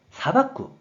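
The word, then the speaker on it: 裁く: 그래서 재판할 재, 말을 재가 되었고 뜻으로는 사박구, 음으로는 사이로 각각 발음한다고 설명드렸어요.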